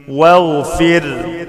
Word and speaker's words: واغفر: واغفر، واغفر لنا ربنا، ما قولش واغفر، الألف لا تنطق.